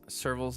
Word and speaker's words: Serval's: ways um but yes you pronounce serval's name like the wild cat species I don't know if